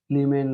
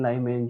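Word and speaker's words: Lyman: और इस सीरीज को बोलते हैं लीमेन सीरीज, लीमेन लाइमेन जैसे भी प्रोनाउंस करो आपके ऊपर है।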